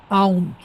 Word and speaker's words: aunt: Aunt, A-U-N-T. Pero A-N-T se pronuncia igual y es hormiga.